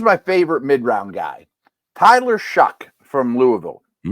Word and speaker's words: Shough: And here's my favorite mid-round guy, Tyler Shuck from Louisville. Shough, but it's pronounced Shuck.